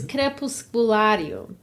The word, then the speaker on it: Crepusculario: It's crepusculario. Crepusculario is how you say it.